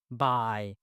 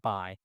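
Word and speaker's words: bai: um a I so AI is pronounced as I and the first word would be b a i by all right b a i by a i for example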